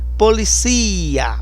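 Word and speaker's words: policía: Em espanhol é policia, o forte é no si.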